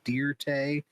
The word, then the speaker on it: Dirt: He goes, "It's actually pronounced Deerte," and they say, "Yeah, don't you try churching it up, Dirt."